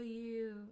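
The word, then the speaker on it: や: Oh, it was so hard, so difficult for you, right?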